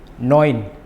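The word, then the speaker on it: neun: Hoiser hoit hoit oiro oiro noin. Noin. Jadi untuk gabungan huruf a um laut dengan U ataupun E dengan U, cara pelafalannya adalah oi.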